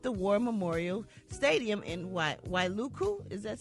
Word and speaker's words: Wailuku: other supplies at the War Memorial Stadium in Wailuku is that said it right Wailuku okay she said I came earlier just to